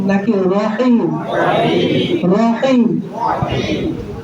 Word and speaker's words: রহিম: রা জবর রা পড়ছেন কিন্তু উচ্চারণ মূলত কি হবে? র জবর র সব জায়গায় বলবেন রহিম রজিম রজিম রজিম জোরে বলেন রজিম রজিম কখনো রাজিম বলবেন না রাহিম বলবেন না কি বলবেন রহিম সবাই জোরে বলেন রহিম